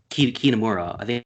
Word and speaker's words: Kitamura: You say his name appropriately because I said it wrong earlier. It's Kitamura.